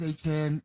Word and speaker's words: Etienne: He's got a little bit of moxie, so they added Jacksonville Jags running back Travis Etienne, but he says it's pronounced Etienne, for 4 years, $52 million.